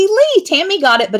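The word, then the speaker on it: Leigh: for fun a lot it's not Lou it's close close Lee Tammy got it but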